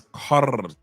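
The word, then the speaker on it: carajo: how to pronounce kaha roll your roll your tongue it's not it's I'll say it again it is not CA it's kaha kaha for all you dudes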